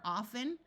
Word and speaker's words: often: sound disappears and fasten two other common words with the t is silent are often although in some parts of the US the t is pronounced and Christmas notice that